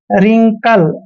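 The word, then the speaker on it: wrinkle: देखिए रिंकल में भी डब्लू को छोड़ना है रिंकल ऐसे रिंकल क्लियर तो ये ध्यान रखना है कि डब्लू और आर अगर इकट्ठे आते हैं कहीं भी तो वहां पर हमने डब्लू का उच्चारण नहीं करना है आई आई होप वीडियो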